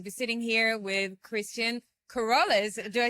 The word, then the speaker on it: Keroles: I am so happy to be sitting here with Christian Keroles.